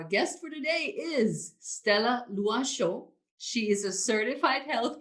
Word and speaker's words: Loichot: i was freaking out it's a french name and i'm oh my god how do i pronounce this name she's like i got you it's lua and i was like